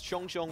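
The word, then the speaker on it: XiongXiong: You should call him by the way his name is pronounced. It's Chong Chong, which means...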